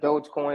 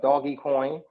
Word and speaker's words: Dogecoin: all of a sudden dogecoin or doggy coin depending on how you want to say it right um all of